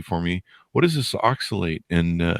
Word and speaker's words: oxalate: Did I pronounce it right? Oxalate? Oxalate.